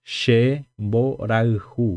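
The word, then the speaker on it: Che mborayhu: Então, vamos lá novamente a pronúncia. Vou voltar aqui. Shemboraihu. Shemboraihu.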